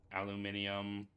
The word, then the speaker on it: aluminium: Ceramic, glass, ceramic, wiring, aluminium. Yes, British viewers, I pronounce it correctly.